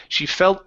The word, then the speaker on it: felt: And let's go to the word felt. Give me an L in there. She felt lucky.